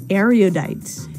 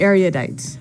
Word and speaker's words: erudite: dialogue, and it is erudite. Erudite. Erudite. Okay, so this word erudite, some people pronounce it erudite.